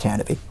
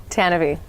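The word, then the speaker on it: Tantive: And yes, it's pronounced Tanavi. Tanavi. I know That's from the old radio drama. It doesn't look like it's spelled that way, but that's what we've been I think saying.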